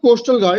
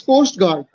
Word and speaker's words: Coast Guard: talked about Coastal Guard it's not Coastal Guard it's Coast Guard pronounce properly it's Coast Guard okay okay it's Coast Guard not Coast to guard and your language pay